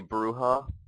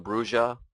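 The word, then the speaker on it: Brujah: my second choice was a bruha or bruja it's pronounced either way I think and my third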